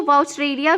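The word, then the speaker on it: Wuchereria: ठीक है, इसको वाउचरेरिया भी प्रोनाउंस किया जा सकता है, आपको जो प्रोनाउंस करना होगा आप कर सकते हैं।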